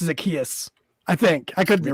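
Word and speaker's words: Zaccheaus: Olamide Zacchaeus. Did I butcher it really bad? No, I think it's just Zacchaeus.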